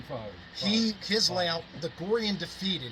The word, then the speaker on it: Gorre and Daphetid: modern day founding father he his layout the Goran defeated it's pronounced gory and defeated it it's phenomenal phenomenal look it up online